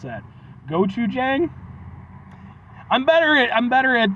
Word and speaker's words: gochujang: barbecue I don't know how to pronounce that gochujang I'm better I'm better at the Japanese pronunciations I am Korean but and it is gochujang which I don't know what that is House